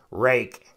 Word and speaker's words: Ruike: little rock in his rake I I was calling him rique rook I mean I've heard it pronounced by different reviewers like different ways worse I think we're settling on rake this is a good